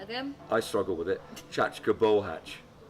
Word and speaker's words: Csacska Bohác: Can I pronounce that? So, say that again. I struggle with it. Csacska Bohác. Csacska Bohác.